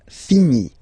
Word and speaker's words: finis: Je finis. Remember, final S is not pronounced.